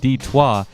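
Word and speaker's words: Détroit: the city proper heck Detroit in French is pronounced d-twah and it means straight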